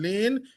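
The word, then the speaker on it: Layne: also on Facebook so my name is Lane if you want I can spell it for you t R E L D O N Lane L A Y N E.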